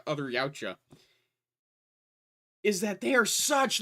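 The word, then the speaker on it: Yautja: Uh the Yaoucha. Y A U TJ A. That is how it's spelled.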